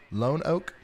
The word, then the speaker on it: Lonoke: the dark never good it's pronounced linoque lonoke lone oak lager 1829 he says